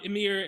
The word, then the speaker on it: Emir: to do it awesome so emir yeah that's um amir and i i looked